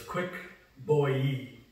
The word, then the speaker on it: Kuikku Bouei: you probably smell it in English so it's quick boy Yi it's like you pronounce it and it basically means rapid two